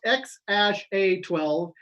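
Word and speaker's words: X Æ A-12: made it this mm-hmm the name is pronounced ex ash a 12 and the baby's name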